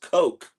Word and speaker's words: Koch: whose last name is Koch, and they insist it's pronounced Coke. Yes. They don't want the alternate pronunciation. No, it's Coke.